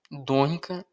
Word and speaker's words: донька: Донька доньці. М'який знак є. До речі, запам'ятайте наголос. Донька на перший склад, дочка на другий.